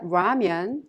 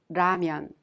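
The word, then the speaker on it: 라면: strong H sound lastly there isn't an exact match to the Lyra sound in English but you can consider it a sound in between the L sound and the R sound so when you pronounce diamond it's not ramyun or lamian it's ramyun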